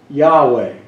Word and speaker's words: Yahweh: but for the lord it's this j h v h try to pronounce that you can't or y h v h the closest we've come is yahweh or if you put